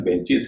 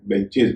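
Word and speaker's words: benches: ध्यान दीजिए इसका उच्चारण बेंचिस है, बेंचेज नहीं है।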